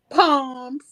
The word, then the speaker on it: Psalms: If you don't know how to pronounce what is it, the book of Psalms? Palms.